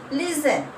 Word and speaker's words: listen: Listen. T is a silent.